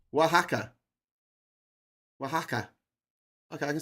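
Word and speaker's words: Oaxaca: It's uh Waka. Wajaka. Okay, it's pronounced Wajaka.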